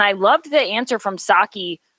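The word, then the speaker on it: Psaki: loved the answer from saki is how you say it howie i feel like i keep saying her name wrong yeah it's it's sake but i caught i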